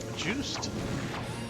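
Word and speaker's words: Juste: Is it juice day? Do you pronounce the e? Do you not? Uh is it French? If it's French, you should probably pronounce the e. If not, it's probably silent, but it's pronounced juiced.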